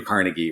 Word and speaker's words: Carnegie: You know, if you look back, the great American experiment with library started with uh Andrew Carnegie or Carnegi depending on how you want to pronounce his name.